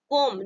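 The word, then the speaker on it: comb: नियम क्या कहता है अगर किसी भी शब्द में एम लेटर के बाद भी लेटर लगा हो तो हमेशा क्या करेंगे हम बी लेटर साइलेंट होता है 20 शब्द को प्रोनाउंस नहीं किया जाता ठीक है जैसे यहां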